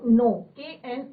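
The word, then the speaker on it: know: form of डी क नो नो तो के क्या मतलब इसमें साइलेंट राहत है तो नो का सेकंड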